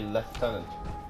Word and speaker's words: lieutenant: I think it's just because I automatically say leftenant yes which makes me happy yes for Americans